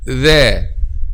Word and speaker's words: Dhāl: The, Dhal, Dhal, Dhal, Dhal, Dhal.